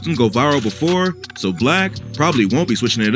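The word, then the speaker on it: 6LACK: Jesse Reyes he said hi my name is black and sometimes people call me six slack I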